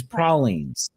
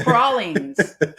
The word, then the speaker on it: pralines: So the correct is pralines. It was invented down here, I do believe. So it's pralines.